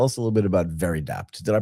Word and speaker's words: Veridapt: But before we dig into that in detail, Tyro, tell us a little bit about Very Dat. Did I pronounce that right?